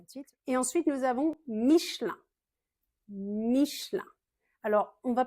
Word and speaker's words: Michelin: Michelin parce qu'en français, quand il y a un E au milieu du mot, on a tendance un petit peu à l'avaler et à raccourcir le mot. Donc, on va plutôt prononcer ça Michelin.